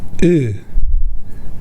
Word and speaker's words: ㅡ: Say “good”. But not “gOOd”, say “gEUd”. In other words, when you say “good”, do not pronounce the “oo” part with your lips rounded. Instead, try to pronounce the “oo” part with your lips flattened. “gEUd”, not “gOOd”. “gEUd” “gEUd” This flattened “oo” sound is similar to the Korean “ㅡ” sound.